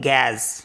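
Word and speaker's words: gaz: इसका भी एक्सेप्शन है जी ए जड इसको पढ़ते हैं गैस गैस को बोलते हैं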